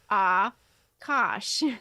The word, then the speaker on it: Akash: Smith chimed in and gave the the phonetic pronunciation of Akash and it is actually ah Kosh is it Akash all